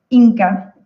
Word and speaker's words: INCCA: Y fundó el INCCAF, que no sé si esa sigla se pronuncia de alguna forma o se deletrea. INCA. INCA, ok.